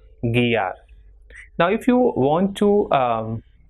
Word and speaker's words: guiar: And GUI is pronounced as gi. So we have examples for this pronunciation, words like guitarra, conseguir, or guiar.